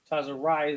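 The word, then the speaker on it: צרעת: Tazarai is how it's pronounced in Hebrew.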